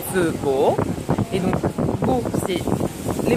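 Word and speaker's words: phở bò: pas pareil et donc le feu qui s'écrit faux donc c'est pas la peine de dire faux beau parce que les Vietnamiens vont pas comprendre c'est feu beau et donc beau c'est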